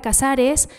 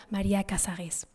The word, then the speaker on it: Casares: Marie Casar, y entonces ella pone un acento al final para que los franceses tengan que pronunciar María Casares.